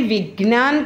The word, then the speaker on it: विज्ञान: विज्ञान, यहाँ पे विज्ञान करके लिखा गया है, उच्चारण तो इस तरह से होगा लेकिन इसका